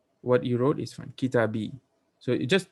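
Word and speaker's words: كتابي: Kitabi. So you just don't put the fatha on there. Kitabi. See, now so easy to say kitabi.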